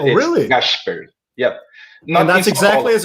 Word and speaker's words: Gašper: I was writing this to John in the comments because this is the pronunciation of the S in Rio de Janeiro city. We have this accent strong in the S, like sh. So it's really? Gašper.